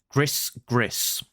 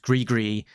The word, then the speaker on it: gris: I'll say this as it's written, gris. So gris, pronounced gree, is Cajun, which means to curse someone, frequently used in jest. So where he says, "Whoo, that big ma deuce sure put the gree on them robots," is